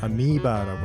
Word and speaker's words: amoeba: 영어 발음은 amoeba라고 하고요.